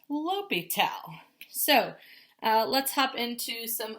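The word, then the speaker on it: L'Hôpital: Pital apostrophe S, L'Hopital's rule, pronounced L'Hopital.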